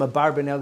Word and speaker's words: Abarbanel: or as I say some have suggested he should be Abravanel we call him a barber Nell it's just the more common pronunciation the question with the